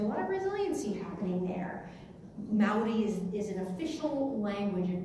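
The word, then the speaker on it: Māori: Okay, so it's Mao, there's like an O, and then there's a rolled R. So let's try that. Maori. Right, Maori.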